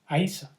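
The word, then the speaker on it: Íosa: Even in Gaelic, it is written Yosa, even though it's pronounced Aisa.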